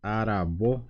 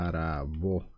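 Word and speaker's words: aravo: hora hora en guaraní decimos arabo también viene de ara arabo de esta manera arabo así arabo no me estaba saliendo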